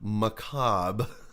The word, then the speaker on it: macabre: But this is Arctic Warrior, Bob Macabre. I love the name already, Bob Macabre. This is why English is just dumb as fuck, you know, because these words, Bob and Macabre, rhyme.